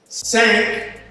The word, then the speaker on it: SAANC: And somebody said to me earlier, SAANC rhymes with thank.